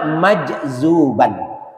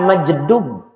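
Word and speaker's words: مجذوب: Tumma majzuban. Kemudian majzub. Nih nih yang benar ini nih. Summa majzuban bukan majdub. Saya sering dengar itu yang ngomong ustaz enggak ngerti dia apaan. Majedub. Majzub.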